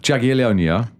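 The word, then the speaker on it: Jagiellonia: Uh they've beaten J they've beaten Jag Jagonia. Jagalonia which is why you laughing on pronunciation that is spot on.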